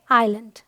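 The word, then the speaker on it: island: भी एस के बाद एल है यह है आइलैंड alright rule number seven कहता है कुछ वर्ड्स में एस साइलेंट होता है जैसे यह क्या है अप्रोपो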